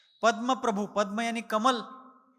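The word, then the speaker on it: पद्मप्रभ: चंद्र प्रभ चंद्र प्रभु पद्म प्रभु ऐसा जो अपन छठे और आठवे तीर्थंकरों का नामो उच्चारण करते हैं वह बिल्कुल गलत है चंद्र प्रभु नहीं चंद्र प्रभ पद्म प्रभु नहीं पद्म प्रभ चंद्र प्रभु कहेंगे प्रभु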